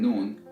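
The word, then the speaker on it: نون: that ra LEM and noon have a very close articulation points now as you pronounce the letter known the air comes out from your nose so it's accompanied by a nasal sound and that's how you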